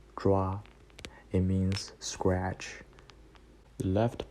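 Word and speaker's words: 抓: This word pronounced like "zhua."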